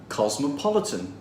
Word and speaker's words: cosmopolitan: cultures let's pronounce this it has four syllables and the third one is stressed cosmopolitan cosmopolitan five vienna has